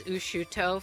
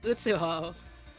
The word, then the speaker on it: Utu: I thought her name was Ushut for years. I love my brain's tendency to misplace a couple words and just mispronounce things for years. No, it's utu.